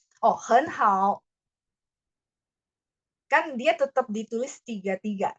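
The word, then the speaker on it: 很好: Hen hao. Kan dia tetap ditulis 3-3 karena aslinya 3-3. Tapi bacanya saja huruf depan ini jadi nada 2.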